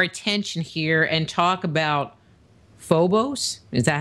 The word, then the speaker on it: Phobos: to turn our attention here and talk about phobos is that how you say it you do pronounce it phobos yes which is a satellite or a moon